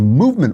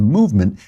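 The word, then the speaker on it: MVMT: leave out the valves it's spelled M V M T so you don't have to pay for all those expensive valves if you were paying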